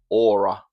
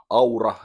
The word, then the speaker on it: Aura: This is a band called CMX, and their album Aura, or Aura as we spell it in Finnish.